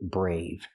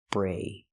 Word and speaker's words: brave: First, let's practice with the adjective brave. Pronunciation. Use the long A sound like day and say. Brave.